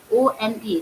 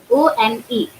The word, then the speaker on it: one: O-N-E. So O-N-E pronounced like one. That means we have started the word writing the letter O, but while we pronounce the word, we say one.